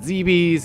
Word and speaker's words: Zebes: was like is it zebes is it zebus you know and apparently zebus is the official pronunciation so that's just kind